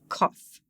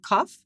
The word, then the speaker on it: Qof: further and say that phonetically, in English, it's the Qwa for queen, but it's said as a K for kick.